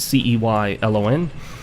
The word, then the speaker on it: Ceylon: It's actually Ceylon cinnamon. I think it's how it's pronounced, C-E-Y-L-O-N. But I actually prefer to call it Ceylon cinnamon.